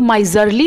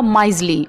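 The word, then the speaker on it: miserly: अब इसकी प्रोनंसिएशन कुछ लोग माइजरली बोल सकते हैं, इसमें जो ये आर है ना बीच में ये साइलेंट है, इसका प्रोनंसिएशन होगा माइजली, ओके।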